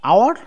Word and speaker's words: hour: Special use of an, like an hour, an honest man. Here H is silent.